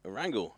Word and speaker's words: Erangel: You actually said it right. Erangel, not Erangel.